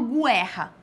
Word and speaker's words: guerra: cio não tem não tem sol não falo guerra tá eu falo guerra então tem aqui ó